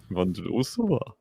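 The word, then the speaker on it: Vondroušová: Vondrousova. That's how you pronounce it, though.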